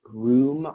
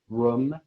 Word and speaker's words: rheum: This word, the word is pronounced room, also room.